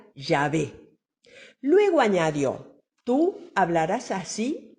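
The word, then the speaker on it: Yahvé: soy el que soy que se escribe así como lo ven y que se pronuncia llave luego añadió tú hablaras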